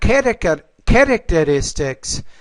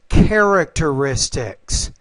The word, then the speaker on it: characteristics: And it's not characteristics, but it's characteristics. So characteristics.